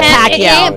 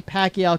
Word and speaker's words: Pacquiao: Sam says it Pacquiao Pacquiao Pacquiao Pacquiao it's Pacquiao he's the Pac-Man but he is the Pac-Man that's for all the Americans Pac-Man and if you're Filipino it's Pacquiao well speaking of of